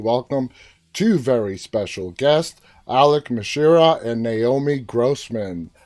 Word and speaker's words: Alok: Well, I just wanted to tell you, it's pronounced Alok. Just Alok.